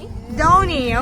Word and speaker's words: Dhoni: Dhoni, okay.